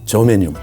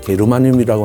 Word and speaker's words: 게르마늄: 우리 식약에서는 인정을 안 하고 있지만 저메늄 독일식 발음을 하면 게르마늄이라고 하는 성분도 한국산 인삼이나 영지버섯이나 마늘에는 아주 최고로 많은 것으로 알려져 있습니다.